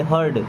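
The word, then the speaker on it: heard: अब ई आ रहा है ना तो बस आर का उच्चारण होगा ऐसे हर्ड, क्या पढ़ेंगे इसको हर्ड।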